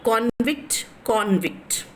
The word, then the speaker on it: convict: Yeah, convict. So B is the answer. And why B? right? Enduku B is answer means, yeah, because convict is a noun, thus the stress is in the first syllable.